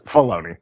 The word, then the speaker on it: Filoni: It's Filoni. Yeah, Filoni? It's the I is not pronounced.